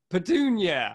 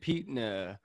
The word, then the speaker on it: Petunia: uh petena aunt pete how do you say your name you're the best one petunia i always when i keep reading the book i always say aunt peetna and pedunya gotcha she kept seeing